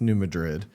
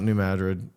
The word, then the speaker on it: New Madrid: It's New Madrid, the New Madrid fault line.